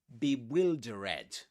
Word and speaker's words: bewildered: And you've got to pretend it's spelled like this be will. And here you can dud. You can say, you can pretend it's spelled like this. Bewildered.